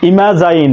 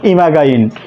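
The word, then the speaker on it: imagine: আবার লক্ষ্য করো জিএইচ জ জ ফ, ইমাজাইন নট ইমাগাইন ইমাজাইন।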